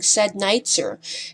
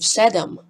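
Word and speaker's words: седем: so to also lacks the very Bulgarian broadcasting habit of saying sad night sir instead of the more commonly Slavic pronounce nation of cedam this could partially be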